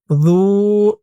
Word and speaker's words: ذو: যু, আর জালের উচ্চারণটা নরম হবে।